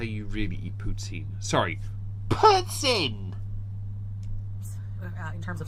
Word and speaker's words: poutine: I feel like she's trying to say putts and then in. She just completely screwed it up. I understand where you're getting the pronunciation from. I really do. But you're still getting it wrong.